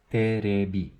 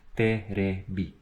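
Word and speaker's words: テレビ: TV is terebi. You don't pronounce the T with a very hard T sound. It's soft. So te. It's terebi.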